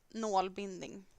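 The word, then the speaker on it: nålbindning: to learn Swedish, um, put a å instead of the first a, the one with a circle above it. That is how it's spelt in Swedish. And pronounced nålbinding.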